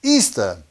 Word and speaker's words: Ishtar: Semiramis became known as Ishtar, which is pronounced Easter, referred to as Astaroth in the scriptures, and their moon eggs became known as Ishtar egg.